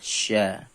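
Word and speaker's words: شَ: ini adalah sa dan ini adalah cara pelafalannya tentunya berbeda antara sa dan Sya m oke baik sekali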